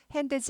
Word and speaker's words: hands: 드가 묵음은 아닌데 잘 안 들려요. hands 하지 않고 his hands 드는 나는 발음은 하는데 잘 안 들려 정도로 하세요.